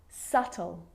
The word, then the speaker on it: subtle: all of those examples my lips aren't closing and coming together to form the B sound I'm just pronouncing the T subtle depth and doubt now the letter C